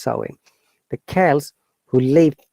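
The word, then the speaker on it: Samhain: the ancient celtic festival sermon pronounced sowing the chels who lived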